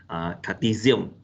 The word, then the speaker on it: Cartesian: to introduce about the cartesian planner this is this one is pronounced z sound cartesian plane okay which uh involve the